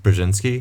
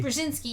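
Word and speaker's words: Brzezinski: And then we get Rej Rejinski, Brjinski, how do you pronounce his name? Bjinski. Bjinski.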